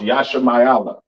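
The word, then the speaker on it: ישמעאל: understand all right uh Ishmael or the so-called Arabs of today which means God will hear pronounce Yasha mayala a serious villain over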